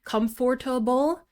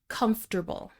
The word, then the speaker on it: comfortable: Of course, we'll understand you if you say comforter-ble, but it's more important when you're listening to native speakers because most of the time you're going to hear comfortable.